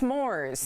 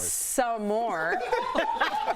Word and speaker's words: s'mores: Yeah, it's s'mores. What do you say? S'mores. Not some more.